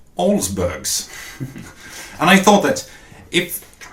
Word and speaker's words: Olsbergs: clean good looking car and it just says olsbergs and I thought that if you the viewer